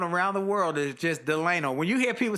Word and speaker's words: Delano: Willie Jolley, with my special guest, Delano Lewis. And let me tell you, folks, it's spelled Delano, which would like Franklin Delano Roosevelt. But his parents said, no, your name is Delano, not Delano, it's Delano.